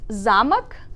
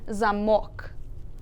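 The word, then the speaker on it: замок: So you have zamok and zamok. Zamok, zamok. Yep, zamok means castle, and zamok means the lock. So as you can see, they are spelled the same way, but because the stress changes from a to o here, the word is completely different in meaning.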